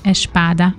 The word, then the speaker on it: espada: Ezért a kiejtésért, már biztos meg fognak lincselni, de így sokkal könnyebb lesz nektek megérteni a különbséget és megtanulni, mert ahogy a portugálok ejtik ki, úgy semmi különbség nincsen.